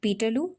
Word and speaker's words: Peterloo: It was made to rhyme with the word Waterloo, Peterloo, Waterloo.